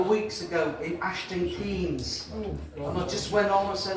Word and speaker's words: Keynes: I know it's spelled Keynes, K-E-Y-N-E-S. But here in the village, we prefer to pronounce it Keynes.